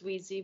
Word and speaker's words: Weiss: and wrap this up thank you it's Wheezy but that's okay everyone calls me Weiss it's fine um my